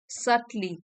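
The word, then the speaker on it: subtle: सटल होता है, इसमें भी बी साइलेंट है, सटल होता है एडजेक्टिव,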